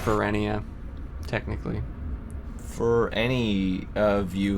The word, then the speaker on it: Ferenia: the fair enough yeah it's pronounced perennia technically for any of